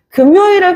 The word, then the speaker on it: 금요일: 금요일을 가장 좋아한단 말이야 근데 이게 발음할 때도 마찬가지로 어 선생님한테 니은 성가 배웠으니까 금요일이 돼야 되겠네 금요일 된다 안 된다 안 된다 발음할 때는 연만 연만 시켜 주는 거야 그래서 금요일이라고 반음을 합니다 아시겠죠 금요일 요렇게 발음을 하는 거 요렇게 이해를 해 주시면은